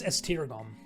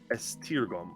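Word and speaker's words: Esztergom: remind me the name of that yep it's estergon how do you spell that uh e-s-z-t-e-r g-o-m ester gum okay um i i say to him if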